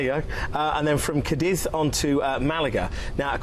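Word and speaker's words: Cádiz: Then there's another relaxing day at sea, and then an absolute classic on the cruise itinerary is got to be Cadiz, or Cadiz. Cadiz. Cadiz. As those locals say.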